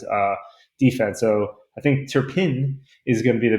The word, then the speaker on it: Turpin: Uh but on the other side for the Cowboys, it's uh uh Cavante Turban and I hopefully pronounced that correctly. Um Turpin Turpin.